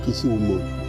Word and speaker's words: Kisumu: then we can exchange the wool called it kisumu but then there was called it and the new youth call it winner so the the actual pronunciation should be kisumu if you look at kisumu it is really